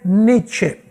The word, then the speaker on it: Nietzsche: Número tres, Frederick Nietzsche o Frederick Niet, como se pronuncia en alemán.